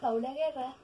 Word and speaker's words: Paula Guerra: estoy miren mis amores listos en cuenta como pau la guerra así se escribe pero se pronuncia by paula guerra ay